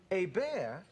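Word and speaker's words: Hebert: You know, it's Herbert, H-E-R-B-E-R-T, A. Bear, H-E-B-E-R-T. A. Bear.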